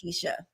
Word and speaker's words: Quisha: You can't take my blackness from me, Joe Biden, because my name is spelled with a Q and pronounced Quisha now.